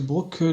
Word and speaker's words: Brook: votre car s'il vous plaît oui vous monsieur Brock John c'est bien comme ça qu'on prononce ça parfait donc me confirme la véracité